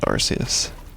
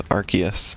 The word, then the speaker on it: Arceus: And it's Arceus. Is this your crime? This is like Elena's one crime. Is that I say Arceus? Yeah. It's because they don't want it to sound like arse.